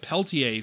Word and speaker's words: Pelletier: call-ups they called a walker door and Jacob Peltier from the Calgary Wranglers said it right the